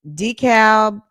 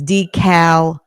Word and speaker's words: DeKalb: This is DeKalb or DeKalb, Illinois, not Georgia.